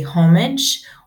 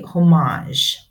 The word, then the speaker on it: homage: Number 6, you can pronounce this word 2 different ways. You can either say homage or you can say homage. You can pay homage or pay homage.